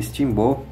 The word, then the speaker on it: Steamboat: tá que é o Disney steam-boat tá Disney Timbu é na verdade é a pronúncia aqui quer dizer barco a vapor tá